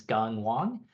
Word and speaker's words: Gung Wang: But for those of you that might not know who I am, my name is Gung Wang. It's kind of pronounced like gun ho, if that's easier to remember.